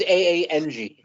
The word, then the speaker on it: Aang: Yeah, it's supposed to be Aang, but in the movie version they pronounced it Ong, and like fans went nuts how pissed off they were about it.